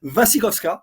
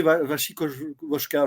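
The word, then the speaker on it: Wasikowska: le personnage Mia Mia vasikovska parce que je savais j'avais toujours mal prononcé son nom avant voilà je l'appelais vashi voska je crois voska mais c'est koska et elle est très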